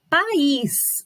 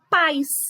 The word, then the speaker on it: país: a sílaba de pãos país hum país Olha lá precisa ter o acento direitinho senão vou falar pais e não é né apr quer país